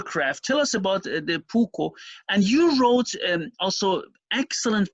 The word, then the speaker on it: puukko: I'm sure I don't pronounce it correctly because it's a Finnish term. It's okay, it's puukko.